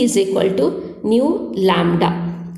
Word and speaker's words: nu: c is equal to nu lambda c is equal to new lambda new means it is nothing but a frequency pronunciation is a new c is equal to